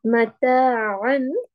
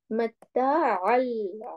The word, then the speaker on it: متاعا: But we are not going to pronounce it like a an. Why? When tanween or noon sakin is followed by lam or ra, that noon sakin and tanween will not be pronounced, as we are going to completely merge it with the lam and ra. How to pronounce it? Mata'al.